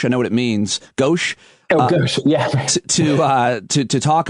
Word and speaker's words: gauche: it it would seem almost how's the word pronounced gauss i know what it means gauche to uh to to talk about the ineptitude